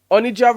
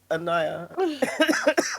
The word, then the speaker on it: Onijah: Onija Onija Robinson who has taken over Pakistan. Wasn't it Annayia? Annayia. Yeah. I think I think N or Dante, our producer said it's Annayia.